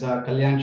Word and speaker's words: Kalyan: up Casey hi guys my name is Kalyan I know it's difficult to pronounce so I go by